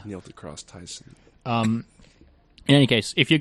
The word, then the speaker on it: Neil deGrasse Tyson: It's pronounced like the high school on the television show, as far as I'm aware. Neil deGrasse Tyson.